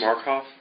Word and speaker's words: Markoff: Would you pronounce and spell your last name, please? Markoff, M-A-R-K-O-F-F.